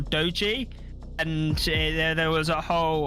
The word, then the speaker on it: Doge: They are, but I believe strangely they were adamant that their name is not Doge but is Doggy or Doji, and there was a whole ordeal about how to refer to them.